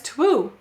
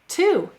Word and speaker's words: two: It looks like it says twoo. Why is there a silent W?